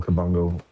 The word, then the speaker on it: Kabongo: Yeah, well, my name is Kabango.